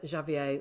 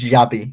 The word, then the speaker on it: Xabi: For Chelsea's new manager, Xavier Alonso. Absolutely, and it's Xabi, Mom, not Xavier.